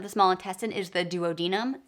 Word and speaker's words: duodenum: The first section of the small intestine is the duodenum. Some people also pronounce it duodenum, so tomato, tomato.